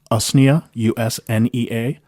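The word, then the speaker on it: Usnea: And according to the internet, it's pronounced US u nea.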